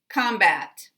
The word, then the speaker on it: combat: levels of stress so the first one combat it has the primary syllable on the first syllable and the second syllable is secondary so both of these contain a full vowel there's no schwa combat combat this one